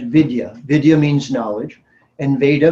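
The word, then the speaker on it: विद्या: It's pronounced Veda, and Vidya.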